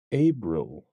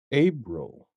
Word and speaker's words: Abril: Latin origin significant to Roman mythology it is pronounced abil abil you may notice the similarity to the word